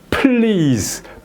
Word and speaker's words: please: 개면 예 그래서 아 이제 플로 플로 이렇게 Please 플이 이렇게 발음을 해 된다 그죠 처음에 플이 이렇게 했다가